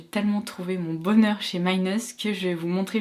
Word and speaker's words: Minus: Il s'agit de la marque Minus ou Minus si on le prononce à la française, et c'est une marque